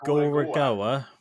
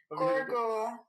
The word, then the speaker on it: Gorogoa: Yeah, so I've been playing Gorogoa. Yeah. Hang on, I'll just give Harry a ring. I'll try to Gorogoa.